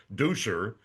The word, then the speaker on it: Duscher: Nothing about sweeping, everything about Germany and how you had gone back to Germany to trace your roots with Duscher, as it's pronounced in Germany, and you found out